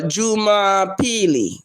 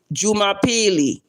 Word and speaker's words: Jumapili: And and how you say Sunday, you would say uh Juma Peely. Jumapili. So Sunday is spelled in Swahili.